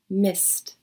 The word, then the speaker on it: missed: i missed your call notice the ed ending in the past tense of the verb miss even though it's spelled with a d it actually sounds like a t sound sorry i missed your